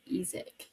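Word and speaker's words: Isack: I think it's pronounced EIC. It is technically the French way, but um, if I try to pronounce anything French, I'm just going to be made fun of, so I'm calling him Isaac.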